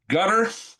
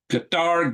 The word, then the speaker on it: Qatar: Uh, Gutter Qatar.